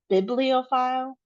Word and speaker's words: bibliophile: For the example here, bibliophile, it's stressed in two places.